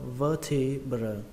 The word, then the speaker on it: vertebra: Trọng âm của từ này rơi vào âm đầu tiên, âm vơ trong từ vơ đũa, vơ, vertebra, vertebra, vertebra.